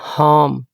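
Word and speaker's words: harm: फार्म खेत एच ए आर एम हार्म नुकसान हार्म नुकसान डब्ल्यू ए आर एम वार्म are silent करके ही पढ़ेंगे।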